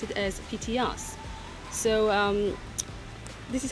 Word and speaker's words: Petite Anse: Petit Ars, which is a hotel here, they pronounce it as PTS.